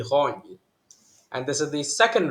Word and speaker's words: Ran: I said Rany, it should actually be Rony.